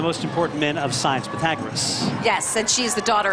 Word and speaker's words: Pythagoras: Pythagoras. Pythagoras. Thank you. Like the Pythagorean theorem, right?